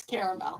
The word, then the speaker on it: caramel: all right last one how do you say this word c a r m e- l caramel it's not caramel that's stupid it's caramel okay we're all right that's